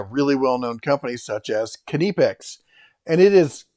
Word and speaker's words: Knipex: made by a really well-known company such as canipex and it is kinnepex they sell a shirt shows you pronunciation this should be a done deal somebody